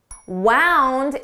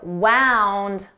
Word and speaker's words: wound: Wound is the past form of wind. I wound the clock.